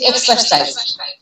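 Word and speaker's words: exercise: যেমন এই যে এক্সারসাইজ, এখানে কয়টা সিলেবল আছে বলেন তো? আমরা শুধু এক্স এটার উপরে জোর দিই উচ্চারণ করার সময়।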